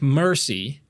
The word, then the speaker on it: merci: So it's like mercy, but more like mère.